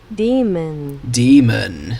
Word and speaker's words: daemon: How do you pronounce it? Yeah, hold on. Wrong thing. Demon.